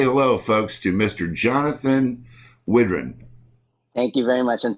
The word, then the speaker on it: Widran: time please say hello folks to mr jonathan whidron thank you very much and thanks for pronouncing it correctly even after many years some